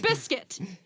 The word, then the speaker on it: Prescott: Which, try to say, Prescott, like, it's spelled Prescott. But you say... Prescott. It's Prescott. No, it's Prescott. What the fuck? Sounds like biscuit. So What?